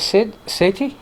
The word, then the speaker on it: Sid Sethi: And with me is Sid Sethi. Is that how you pronounce it?